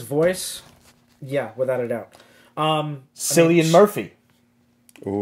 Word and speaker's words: Cillian: Cillian Murphy. Ooh. Killian? Is that how you say pronounced Killian, yeah.